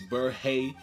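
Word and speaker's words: Berhe: And now I know how to pronounce his name. It's Burhay.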